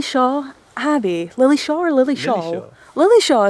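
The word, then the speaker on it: Lilleshall: Abby Lily Shaw or Lily Shaw.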